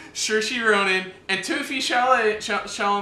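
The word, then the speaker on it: Saoirse Ronan: it right I know I got all right sure she Ronan and toofie shall I tell them she'll make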